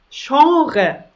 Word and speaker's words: Genre: gehen ins restaurant und das letzte wort das genre das genre zum beispiel die komödie ist ein